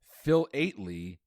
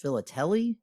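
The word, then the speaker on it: philately: read the question okay phil eightly p h i l a t e l y refers to the study of what subject oh no i think it's actually pronounced philateli villately uh but that doesn't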